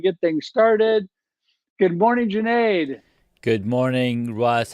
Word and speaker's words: Junaid: you do absolutely so my name is Junaid it rhymes with lemonades if you don't know